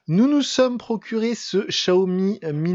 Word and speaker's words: Xiaomi: Alors, pour celles et ceux qui ne savent toujours pas, euh la marque Xiaomi se prononce Xiaomi. C'est pas compliqué, c'est comme un chat haut et plus loin la m de pain.